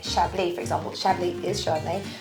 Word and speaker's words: Chablis: else is a chardonnay i don't libby a chablis i know or is that how i say